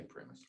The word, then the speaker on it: PRIMIS: I don't care how you call it, pronounce it, but we say PRIMIS.